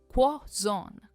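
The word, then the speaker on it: croissant: इसकी सही प्रोनंसिएशन है क्वाजोन। क्वज़ोन हम क्रोजोनट या ऐसा नहीं कहते।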